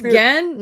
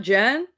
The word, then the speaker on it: Gen: Wait, it's pronounced Gen, not Jen.